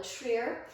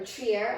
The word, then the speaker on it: Trier: also see photos of corolla treer or trier i think it's pronounced and then lastly